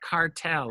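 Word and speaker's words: Kartell: in business it's Italian it's called cartel I think it's spelled kar te ll and lookup particularly the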